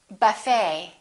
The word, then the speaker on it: buffet: The silent T very frequently happens in words that are originally French. For example, the word ballet, it has the ET ending, and in the French language, the T is almost always silent, so English speakers pronounce it the same way.